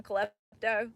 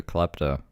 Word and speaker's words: klepto: Um first of all I would I never became a colleto on Xanax. Uh, I took Xanax to my knowledge that one time. Why is she adding an extra syllable to klepto as well?